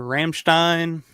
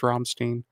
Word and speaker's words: Rammstein: How do you guys pronounce it? Rammstein or Rammstein? I'm gonna say Rammstein because it sounds more German.